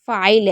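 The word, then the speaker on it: file: जैसे फाइल है तो फाइल में क्या है? एफ को पढ़ रहे हैं, आई को पढ़ रहे हैं, एल को पढ़ रहे हैं।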